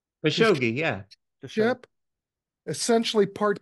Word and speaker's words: Khashoggi: Khashoggi, am I pronouncing that right? Khashoggi, yeah.